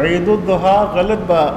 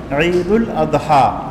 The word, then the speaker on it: عید الاضحیٰ: عید الضحیٰ کا معنی یہ ہوا صبح کی عید، اشراق کے وقت کو ضحیٰ کہتے ہیں عربی زبان میں، تو عید الضحیٰ غلط تلفظ ہوا. عید الاضحیٰ اضحیہ سے ہے، اضحیہ قربانی کو کہتے ہیں، تو اس کی تصحیح کر لینی چاہیے.